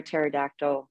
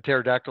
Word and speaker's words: pterodactyl: Why can't you hear a pterodactyl go to the bathroom? A pterodactyl like the dinosaur? Like the dinosaur. Yep. No clue. Because the P is silent.